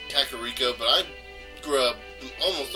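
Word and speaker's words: Kakariko: go up to Death Mountain that's how it pronounced kakarika but I grew up almost all my life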